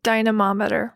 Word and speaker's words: dynamometer: Dynamometer.